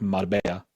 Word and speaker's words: Marbella: I don't know if you know the Y or the double L in Spanish is pronounced like a Y, like Marbella, the Y at the end.